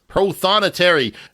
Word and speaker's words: prothonotary: Now, let's get the pronunciation right. Prothonotary. This warbler, yeah. How do we say it? Prothonotary.